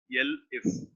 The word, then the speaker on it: elif: In Dev C++, we pronounce as else if. Here, the same else if is being pronounced with elif.